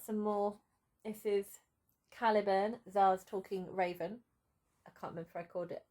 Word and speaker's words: tsar: illustration and we've got tsar pronounced czar riding riding on the